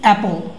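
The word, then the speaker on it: apple: এখন দেখো এটা হচ্ছে এইবল, এইবল, এটা হচ্ছে অ্যাপল, এইবল অ্যান্ড অ্যাপল, এইবল অ্যান্ড অ্যাপল।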